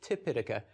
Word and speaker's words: Tipitaka: Tripitaka is the Sanskrit pronunciation, and Tipitaka is the Pali pronunciation.